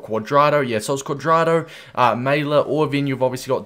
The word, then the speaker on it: Maehle: at least let's see how do we pronounce his name mailer all right mayla okay there we go mailer 82 rated row